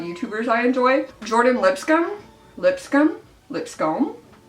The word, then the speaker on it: Lipscombe: I enjoy Jordin Lipscombe Lipscombe Lipscombe it looks like Lipscomb but I think it's pronounced Lipscomb she uses concealer and